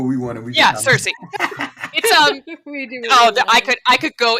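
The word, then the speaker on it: Circe: guys different circles yeah in greek the pronunciation would be kirke okay i'm learning something new because it was it was a kappa not a sigma but we but in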